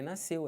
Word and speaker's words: nasceu: Ah, mas tem o S, tem o C. Eu sei, só que SC, eles não podem ser pronunciados numa palavra que depois desse SC você tenha E ou I. Por exemplo, piscina. Aqui, você tem um I. Se fosse um E, tipo nasceu, também não pronuncia.